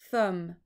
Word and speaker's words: thumb: this is Oh mmm thumb so have a look see which category it goes into brilliant goes into the M and the B that mm is spelt as an M and a be together let's have a look